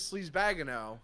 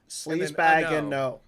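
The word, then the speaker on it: Sleazebaggano: Well, his last name is Sleazebagano. Sleazebagano. Sleazebagano.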